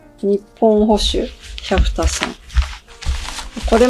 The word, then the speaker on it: 百田: お高いじゃんはい続いて日本保守キャフタさんこれも昔の話なんだけどこのチャンネル初めてキタさんの読み方を私ずっともたさんだと思ってたのそう